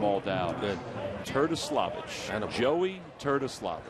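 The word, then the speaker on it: Terdoslavich: It's pronounced the way it looks, not the way it sounds.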